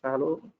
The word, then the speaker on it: Fallot: Okay, it is pronounced as Fallow.